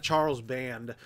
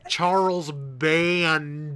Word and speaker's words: Charles Band: A lot of Charles Band. I did say it right. Danielle, I said it right. Charles Band.